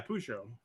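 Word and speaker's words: Peugeot: that good off good old French oh it's pronounced Cujo yeah pujo Jesus Christ no here we go look at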